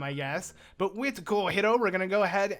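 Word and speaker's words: Cojiro: Okay sure so as you can tell I'm pronouncing it different I used to call it Coro but or Coro I believe but yeah a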